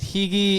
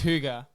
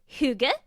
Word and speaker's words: hygge: of trying to figure out exactly how to pronounce it at first cuz I was like is it hii is it hugu is it so it's Huga so that's yeah it's spelled h y gge